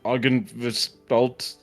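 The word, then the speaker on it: Argynvostholt: Head down to Aren Velt. That's how it's pronounced.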